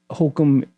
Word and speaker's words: Holcomb: by Steve Wolf, Mason Holcomb. Okay. And that's Holcomb, pretty easy to spell, but I believe that's Holcomb. B. B. Yes. Okay, just so you know, there's a silent B in that name.